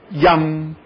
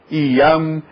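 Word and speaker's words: यं: O Y é fluido e o I é estanque. Então as pessoas começam pronunciando direitinho. Yam, Yam, Yam, Yam, Yam. E lá pela 50ª vez já estão dizendo Iam, Iam, Iam.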